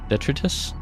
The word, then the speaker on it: detritus: Eggs can be found resting on the seafloor buried beneath diet detritus.